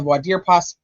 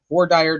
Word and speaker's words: voir dire: So the defense filed a motion to have these little mini opening statements during the voir dire process, or voir dire, depending on where you're from and how you say it.